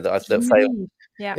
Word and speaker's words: Esmeriz: Esmeriz. Esmeriz. It's the rising ish at the end, isn't it? That failed. Esmeriz. Yeah. Ishmarish.